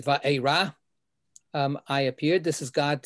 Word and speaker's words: Vaera: In terms of this Torah portion, what we have is it starts Vaera, or the correct pronunciation these days, Vaera.